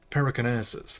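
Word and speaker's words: Perikarnassis: Yes, you spoke the words of the and the house of Periconasus, that's how you say it.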